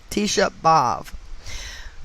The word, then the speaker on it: Tisha B'Av: with the gematria of tisha bob and that is spelled t i s h a b apostrophe capital a v t shabbov okay which is the jewish name for the